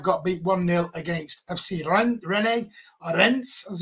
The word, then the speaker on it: Rennes: Dynamo Kiev got beat 1-0 against FC Rennes, as it's actually properly pronounced.